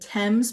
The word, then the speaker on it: Thames: کلمه بعدی که تلفظشو ترمین کردیم Thames بود.